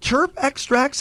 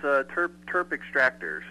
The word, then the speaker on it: Terp Extractors: Well, now we're going to get to our interview with, is it terp extracts? Am I pronouncing that right, Austin? Close. It's terp extractors.